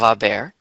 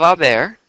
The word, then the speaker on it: haber: go ahead and conjugate a bear in the present tense and let's not forget that in Spanish the H is silent so if we were